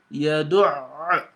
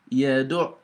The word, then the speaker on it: يَدُعُّ: the ayn very well, you've got to assume you're pronouncing two ayn. One ayn with sukun, afsaku sukun, another ayn with the dhamma. So yadu', see, yadu'.